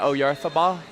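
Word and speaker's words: Oyarzabal: You don't pronounce it Oyarthabal?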